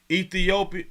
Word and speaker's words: Ethiopia: it say East Africa ethiop Ethiopia ethiop that is how you pronounce it oh Rwanda because